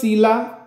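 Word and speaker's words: psylla: Citrus सीला दुसरी paste आहे पी सायलेंट आहे पा लिहिताना व्यवस्थितल्या सिट्रस सीला म्हणतो आपण पण spelling P एस Y double L ए असं आहे.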